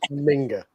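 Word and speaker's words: Minge: squad, Germany's number six, her surname is not pronounced the way you think it is. It's pronounced Minga, right?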